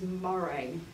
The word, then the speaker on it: Moret: And that's Oswald's cousin, Moret. And I do apologise, because my surname was Beret, and her surname was Moray. And mine was mispronounced, but I will continue incorrectly with the anglicised version of it.